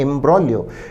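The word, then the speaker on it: imbroglio: अवश्य देखें option B इम ब्रॉलियो इसका प्रोनंसिएशन नोट करें शब्द का उच्चारण है प्रोनंसिएशन है एंब्रो एंब्रो का अर्थ है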